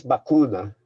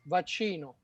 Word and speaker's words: vaccino: I know it's vacuna. Vaccino.